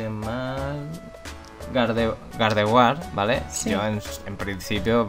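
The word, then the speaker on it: Gardevoir: que yo pronuncias mal gard war valeo en principio pronunciaba como la mayoría gente Claro pero ya llegó un momento que dije si su nombre en realidad se pronuncia como si fuera francés también me alegro de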